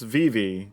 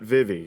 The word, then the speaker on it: Vivi: As I was told by y'all, that it's pronounced Vivi, not Vivi, so I'm trying to be better.